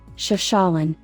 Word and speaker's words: Chefchaouen: To find one of Morocco's most valuable diamonds, Chefchaouen, it pays to venture off the usual path.